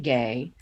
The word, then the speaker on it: Ge: She's a Chinese novelist, Yan Gay. Ge is how the last name is spelled.